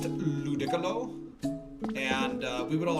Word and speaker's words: Ludicolo: Ludakolo. Cold's out here inventing new Pokemon. Uh Cold, it's pronounced Ludicolo.